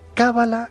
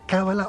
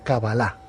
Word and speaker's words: cábala: es cábala con el acento en la primera vocal cábala o cabalá a ver el término